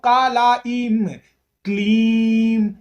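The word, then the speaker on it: क्लीं: दर्शाता है पूर्णता को तो कलेन क्लीन इसे ऐसे उच्चारण करना चाहिए इसका मंत्र होता है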